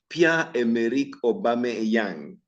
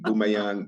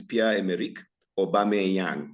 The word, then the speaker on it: Pierre-Emerick Aubameyang: And so we had even Pierre-Emerick Aubameyang. Most people even now cannot pronounce his name correctly. They call him Boomayang, Bameyang, Booma. They have different versions.